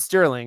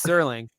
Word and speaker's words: Serling: It's not Rod Sterling, it's Serling.